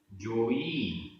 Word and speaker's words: जोई: होई, होई जोई होई, दोनों में अंतर है उच्चारण में। जोई बड़ी ई, होई छोटी ई, जोई होई।